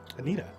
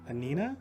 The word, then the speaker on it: Anina: a story actually um anita oh what anina i said it wrong anina anina there's no t there's no g my